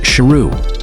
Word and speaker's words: Sheru: His name is actually pronounced Sheru which means lion.